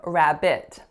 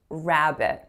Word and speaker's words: rabbit: was when I said rabbit rabbit so we don't stress the second syllable in that word we stress that at the first syllable so it should be pronounced rabbit rabbit and the other